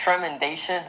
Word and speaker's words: Tremendation: How do you pronounce that? Tremendation or Tremendation? How do you say that? Hello, it's Tremendation.